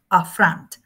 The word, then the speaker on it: affront: There is a schwa here because the first syllable is not accented. And the accent is in the second syllable, front, a front.